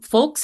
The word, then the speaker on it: FOLX: engage in that way so folks health and folks is spelled spelled fo LX uh the name came